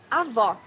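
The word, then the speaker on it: avó: Paloma here welcome to top 10 hardest worst pronouncing Portuguese Avo grandmother you need to hear the sound of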